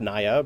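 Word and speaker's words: Naî: It's pronounced Naya, but it's N-A-I.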